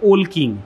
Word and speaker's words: Walking: বানানটা হচ্ছে WALKING, উচ্চারণটা হবে ওল কিং। মানে আমি হয়তো অন্য জানতাম এতদিন, আজকে জানলাম WALKING, ওয়াকিং নয়, ওল কিং।